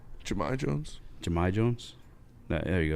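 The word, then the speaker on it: Jahmai: do you say it Jamani Jamani there's not even an end there though it's j a h m a i jamai Jones jamai Jones there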